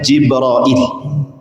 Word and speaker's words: Jibril: dua kata jibrun dan Il dan ada yang membacanya jibrail tentu ini bukan bahasa Arab karena kalimat Jibril ini diambil dari bahasa